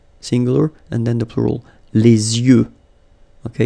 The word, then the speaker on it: les yeux: Okay, so l'œil, singular, and then the plural, les yeux. Okay, you make this liaison between the two, les yeux. Okay, final X not pronounced, les yeux.